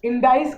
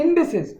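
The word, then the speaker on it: indices: नाउ the thing is, जिनको इंडाइस की property, इंडिसेस, ठीक है, मैंने प्रोनाउंसिएशन गलत की थी, इंडिसेस की प्रॉपर्टी या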